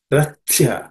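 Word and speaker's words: रथ्या: In the first line, Rathya, and the Th is the second letter in the Tha Varga consonants.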